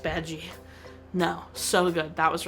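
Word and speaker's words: Badguy: And he's like, it's pronounced Badgie.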